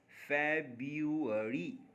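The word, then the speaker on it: February: Actual में यहां पे अगर आप ध्यान दें ठीक से इसको सुने तो आर को पढ़ते ही नहीं है। फब पढ़ते हैं। फरी फबरी तो आर मर गया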